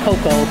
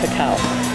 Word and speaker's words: cacao: It was mispronounced as cocoa, but it's actually cacao, and it is where our chocolate comes from.